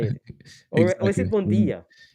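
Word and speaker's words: bon dia: Uh, bonia. Bonia, right? That's how you say it. Or was it bondia?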